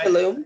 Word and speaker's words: Tulum: a video of one of the destinations in tulum is that pronounced correctly right tulum yes and uh i was enamored i was